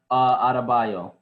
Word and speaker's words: Adebayo: How you pronounce his name? Adebayo, Bam Adebayo.